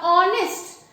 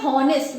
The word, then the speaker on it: honest: word, when we pronounce, how do we pronounce? We say honest. We do not say honest, we say honest. H is silent. So the sound that is produced is of O, honest.